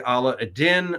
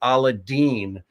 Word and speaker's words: Aladdin: don't realize that so throughout Asia they actually pronounce it aladine so that's how most